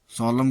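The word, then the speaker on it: solemn: एन साइलेंट, एम के बाद आया हुआ एन प्रायः साइलेंट होता है, जैसे कॉलम, खंभा, सॉलम गंभीर, कैंडेम निंदा करना, डैम धिक्कारना।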